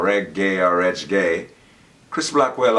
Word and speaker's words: reggae: put it together but if you break it up into two syllables that's r e g g a e so that's reg gay or reg gay or reg gay Chris